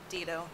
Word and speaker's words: Dito: i'm and actually my last name is uh dito a uh classic mispronunciation of a ukrainian turned american last name my father is